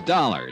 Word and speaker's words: Dollar: It's Dollar, Dollar. Dollar, huh? Yeah, rhymes with collar.